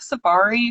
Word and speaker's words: Sophari: So Sophari. it's almost like safari, like going on a safari.